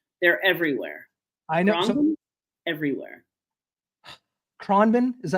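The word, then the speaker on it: Khruangbin: Kronben, is that how you pronouncing it?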